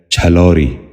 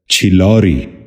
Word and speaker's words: چھلوری: نشین کر لیجئے، چمگادڑ۔ ساتواں لفظ ہے چھلوری۔ یہ غلط تلفظ ہے، درست تلفظ ہے چھلوری۔ دوبارہ سنیے، چھلوری۔ بچوں